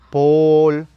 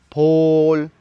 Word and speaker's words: Pol: Apellido número 2, Pol, que su pronunciación en maya debería de ser Pol, Pol, Pol, que significa cabeza.